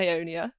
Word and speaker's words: Aonia: the first question is, how do you pronounce Orael and Aonia? Like that.